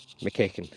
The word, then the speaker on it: McKeekin: McKeekin is how you actually pronounce it, but we'll let him away with it.